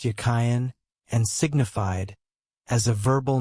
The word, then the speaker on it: Jachin: The word Jachin in Hebrew was probably pronounced Yakhayan and signified as a verbal noun he that strengthens and hence firm, stable, upright.